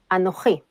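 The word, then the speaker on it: אנוכי: So, for example, the word I or me in biblical Hebrew is Anochi. This same word has changed in modern Hebrew to Ani. Besides this change in pronunciation, modern Hebrew got a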